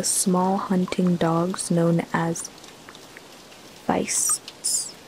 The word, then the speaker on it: Feist: hunting dogs known as fist I don't know if that's Feist or feasts but it's spelled like Feist if you're like reading it like from a Germanic language point of view common throughout Family